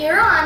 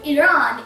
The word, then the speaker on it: Iran: Now, the pronunciation of Iran is, well, Iran, but some people, especially in America, pronounce it as Iran or Iran, which is commonly pronounced, although it is not necessarily correct.